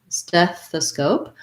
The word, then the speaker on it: stethoscope: word stethoscope and again first syllable stress on stef stethoscope um we have the red tent vowel so it sounds like e and then the voiceless th so we make sure